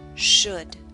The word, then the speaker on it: should: book push put should note the L and should is silent should the next sound is